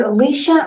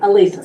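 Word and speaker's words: Alisa: Is it Alicia or No, it's Elisa? Elisa, just like my. Like your Elisa? A-L-I-S-A. On Struthers, which How do would you be spell it? paragraph 6. Elisa is A-L-I-S-A.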